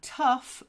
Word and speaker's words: tough: of saying them okay tough is like rough tough rough rough t